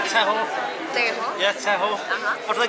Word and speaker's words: Tejo: Tejo.